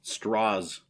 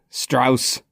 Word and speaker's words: Strauss: Straws. The Yes. Straws. Strauss. He keeps correcting them, too. Every time they suggest that it's like a German pronunciation, he's like, "No, no, straws."